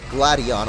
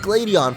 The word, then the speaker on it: Gladion: I think it's actually Gladion. A lot of people have actually told me that, and I'm pretty sure that's how they say it in the anime too, but I like Gladion for some reason.